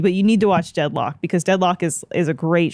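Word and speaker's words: Deadloch: Oh, it's spelled L-O-C-H. Deadlock. Yeah. Like a lock.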